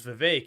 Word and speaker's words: Vivek: wrapped and said that his name is Vivek it rhymes with cake so that's why I